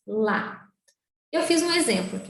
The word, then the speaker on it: ya: No caso do macuxi, usamos a sílaba YA, que se pronuncia, na maioria dos casos, lá.